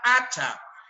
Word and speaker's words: hacha: Tiene una letra, la H, pero el sonido permanece.